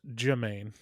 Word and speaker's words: Jemaine: correct you right there the name is Jermaine there's no r in it oh Jermaine Jermaine which